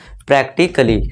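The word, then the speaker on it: practically: इसी तरह देखिए ए के बाद क्या है हमारा, डबल एल वाई है, तो यहाँ एक ए क्या है, साइलेंट है, तो इसे हम क्या पढ़ेंगे, सीधा प्रैक्टिकली।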